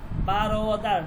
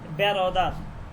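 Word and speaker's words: برادر: এখানে যে ওয়াওটা এটা লেখার মধ্যে আসবে কিন্তু উচ্চারণ হবে না খহার খহার মানে হচ্ছে বোন খহার মানে বোন এরপর হচ্ছে বারদার নট ব্যারদার বারদার বারদার মানে হচ্ছে ভাই বারদার মানে ভাই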